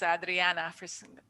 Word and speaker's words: Adriana: dollars adriana lewis um i want to pronounce adriana that's what they my family would call me in mexico uh i see you